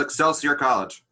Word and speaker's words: Excelsior College: Yeah, I couldn't pronounce the name of it. Oh, it's called Excelsior College.